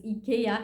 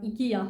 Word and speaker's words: IKEA: like oh yeah I forgot that this is IKEA and not IKEA how we pronounce it.